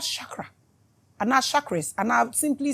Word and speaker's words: chakra: I didn't say chak you can't pronounce it chak chak it is called Shakra Shak and I simply